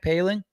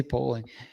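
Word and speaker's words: Poehling: Jack Paling. It's Ryan spelled Paling? polling, but apparently it's paling. I keep wanting to say Poling.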